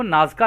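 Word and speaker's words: Nazca: शामिल है तो दोस्तों इंग्लिश में इनको नाज़ का लाइंस बोलते हैं यहां पे जो स्पेलिंग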